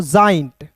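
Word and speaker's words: joint: एन टी है तो इसे हम लोग दोस्तों गेंट नहीं इसे पढ़ते हैं दोस्तों जॉइंट। क्या पढ़ेंगे दोस्तों? जॉइंट पढ़ेंगे। इसे गेंट नहीं पढ़िएगा। क्योंकि बहुत लोग ऐसे हैं जो गेंट पढ़ देते हैं यार।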